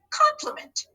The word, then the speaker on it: complement: Let's break that down into syllables. So as I touch my syllable frames, touch your syllable boxes on your dry erase board. Ready? First syllable. Good. Calm. Meant. Nice. Did you hear a schwa in any of those syllables? I did. I heard a schwa in the middle syllable.